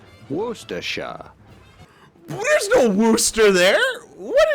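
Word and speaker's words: Worcestershire: if you're right and finally the typical British pronunciation wera there's no Wooster there what is this [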